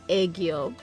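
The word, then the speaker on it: 애교: Editor Celeste popping in here to say no, I was not saying that right at all. It's pronounced aegyo.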